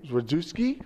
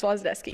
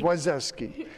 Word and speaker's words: Zwazdowski: But we have Zwazdowski. I keep saying it wrong. It's Zwazdowski. Zwazdowski.